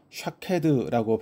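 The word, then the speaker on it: שָׁקֵד: 이 살구나무는 1, 2월의 꽃을 피워서 봄을 알리는 역할을 감당했으며 성경에서는 히브리어로 샤케드라고 발음합니다.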